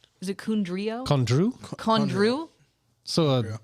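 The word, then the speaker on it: Condrieu: But we make it in a I feel like I always butcher the Kundro. Is it Kundrio? Kondru? So, Right? Kondru.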